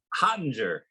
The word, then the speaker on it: Hottinger: Hottinger. Hottinger.